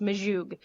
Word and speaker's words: Majug: My husband was like, I was like, I want it to be pronounced Majug.